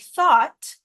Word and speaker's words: thought: other cases we have a word like thought t h o u g HT but you're not even pronouncing the G or the H at all these are silent letters and so it becomes